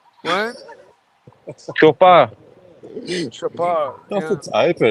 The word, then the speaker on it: Chopard: Yeah, but D is silent, Mikey. What? Chopard.